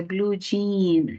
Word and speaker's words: blue jean: se escribe para nosotros pero la escritura del inglés es diferente porque sería Blue yean Blue yean como se escribe pero se pronuncia Blue Jean entonces la adaptación tiene